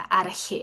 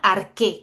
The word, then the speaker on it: arjé: Seguramente ustedes, algunos, ya deben conocer esa palabrita, arjé. Algunos le escriben arqué con C y H, lo que se pronuncia arqué, ¿ya? En griego.